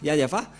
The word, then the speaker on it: Yahvah: Ne prononcez plus le nom du Dieu d'Abraham et de Moshe si vous ne prononcez pas Yahva, car tout le reste sont des faux.